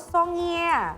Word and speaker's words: songia: g i a i e a songia Oh songia iya Tapi bacanya songia biasa o s o n g